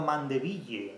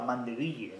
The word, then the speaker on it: Mandeville: abejas de de Bernardo mandeville no pronunciado así a la española mandeville Bernardo mandeville la fábula